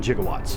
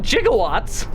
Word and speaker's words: gigawatt: I don't know 1.21 gigawatts 1.21 jigowatts guys it's pronounced gigawatt well my 21 gigawatts